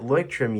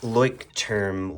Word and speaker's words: Leuchtturm: that uh made by Leuchtturm Leuchtturm, whatever you say. I saw somebody say "trum" and I just don't It's kind of interesting how those letters get pronounced the other way by that one person.